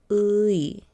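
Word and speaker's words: 의: Let's break down his name. Luigi. Say his name slowly. Luigi. Now let's take out G. Louis. Ui. Ui. This is pronounced ui.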